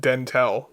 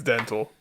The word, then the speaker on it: Dntel: In an interview, Ben Gibbard pronounced it Dentel in front of the guy, so I'm assuming he's not gonna. Hey, that's not my name. If I was him, I'd be like, "It's Dental."